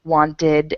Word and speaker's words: wanted: Okay, the first rule, if a word ends with T or D, you're going to add id, and the word will become something like needed or wanted, and you add an extra syllable.